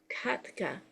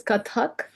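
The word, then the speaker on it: Kathak: Indian classical dance form Katka I'm not sure I've said that right welcome pra welcome thank you uh Rea lovely um that is pronounced as katak uh but thank you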